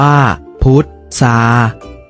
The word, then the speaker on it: พุทรา: กัน นะ ครับ เช่น คำ ว่า พุทรา พุทรา อ่าน ว่า พุทรา ทราบ ทราบ อ่าน ว่า